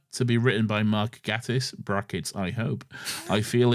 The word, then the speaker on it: Gatiss: It is pronounced Gay Tiss, and we know this because of his famous quote, "Just think gay.